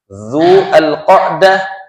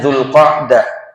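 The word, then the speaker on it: ذو القعدة: bulan itu diawali dengan bulan yang dinamakan du alqah du alhijah. Kita sering membacanya Zulkadah, Zulhijah dan asofarul awal.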